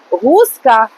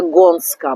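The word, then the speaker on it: Gąska: Ресторація Гуска. Ми все добре знаємо. Я казала гуска, а він по-польськи читається Гонска. Бачите, оця буква А, вона читається ось так от, як ой, отак, напевно, гонська.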